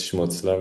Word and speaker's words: Schmutzler: So I'm uh my last name is Schmutzlava which is very German and hard to pronounce.